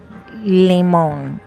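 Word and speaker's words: limón: It's called limon. I know it looks like lime, right? But it's pronounced limon. Limon.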